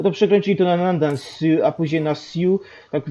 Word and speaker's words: Sioux: Sioux, tak, Sioux, S-O-X się pisze, a czyta się Sioux.